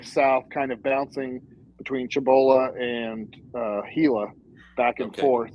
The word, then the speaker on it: Cibola: I think it's pronounced Cibola. Cibola, right there between Gallup and Albuquerque.